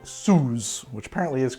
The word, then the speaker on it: Suze: so next i need this french aperitif called soos which apparently is correct it's pronounced sue's it's a liqueur made from the root of